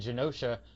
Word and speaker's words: Genosha: And then like the island Genosha, I used to pronounce it with a hard G, and then everyone was like, no, you're wrong.